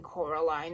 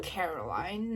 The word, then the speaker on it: Coraline: They got your name wrong, you know. They kept saying Coraline, not Caroline.